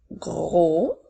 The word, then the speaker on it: gros: page je continue avec le mot gros n'oublie pas la lettre muette le mot gros tu